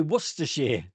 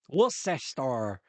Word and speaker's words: Worcestershire: You folks can't say Worcestershire. Worcester. You watch, I keep saying that. The best one is that you Americans pronounce ham.